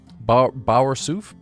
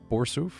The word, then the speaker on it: Bersu: Bowers. Borsu. Bou. How do you pronounce your name? Anyway, what's up, buddy? Are you today? Oh, is that how you pronounce it? Bersu. It's French.